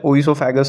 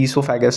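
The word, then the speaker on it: oesophagus: अच्छा, ओइसोफेगस है, ईसोफेगस है, ऐसे प्रोनाउंसिएशन पे जो आपकी टीचर बोले वही फॉलो करना। हमारे यहाँ तो दोनों बोलते थे, ओइसोफेगस भी बोलते हैं, ईसोफेगस भी बोलते हैं, दोनों चलता है।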